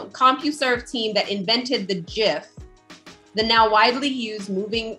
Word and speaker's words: GIF: team that invented the gif the now widely used moving image format blah blah blah he says it's a soft g pronunciation and it's a deliberate reference to jif peanut butter ha ha what i